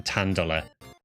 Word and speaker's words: Tandela: In Japan, Tandela is actually pronounced um Tandola. The katakana um tandere.